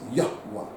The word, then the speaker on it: Yahweh: The correct pronunciation of that name is Yahweh. Okay, so we are worshipers and we are imagers of the God called Yahweh.